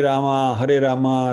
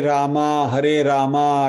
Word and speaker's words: राम: तो प्रोनाउंसिएशन क्या होना चाहिए? हरे राम राम राम हरे हरे होना चाहिए।